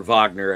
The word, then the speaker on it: Wagner: I doubt the Hawks would give us Wagner because or Vagner as they pronounce it because he's German.